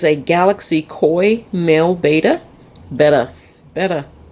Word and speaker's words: betta: Betta. I keep saying beta. I grew up saying beta. It's actually pronounced betta.